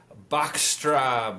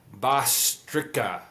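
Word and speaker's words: Bhastrika: It is called Bachra breathing. I may have butchered that pronunciation. Ba bastrica. There we go.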